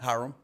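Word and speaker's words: Hiram: Key Georgia locations include Canton, Carterville, Dacula, Griffin, Hula, Griffin, Hyram or Haram. How do you pronounce that? Hyram. Hyram. I knew I knew it was a one-cllable word.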